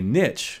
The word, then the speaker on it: niche: career if I chose to do it a niche is defined or Niche I hate that word I hate the pronunciation it sounds so pretentious but niche Niche